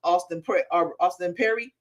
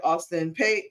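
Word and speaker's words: Austin Peay: Georgia beat up on Austin Perry. Oh, not Perry. Sorry, Austin Pay. I guess that's how you say it.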